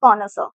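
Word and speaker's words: connoisseur: उस व्यक्ति को हम कहते हैं सी O double N ओ I double S ई यू आर जिसे हम प्रोनाउंस करते हैं कॉर्नरस।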